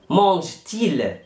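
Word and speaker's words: mange-t-il: الملحوظة الثانية، لو كان السؤال يحتوي على ضمير وفعل والفعل ينتهي بحرف متحرك والضمير يبدأ بحرف متحرك، نضع بينهما حرف تي، نضع بينهما حرف تي. طب ليه؟ ده لسلامة النطق ولعدم التقاء حرفين متحركين.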